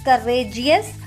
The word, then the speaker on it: courageous: So when we pronounce courageous, RA, that we give more stress to that two letters RA. So it becomes courageous.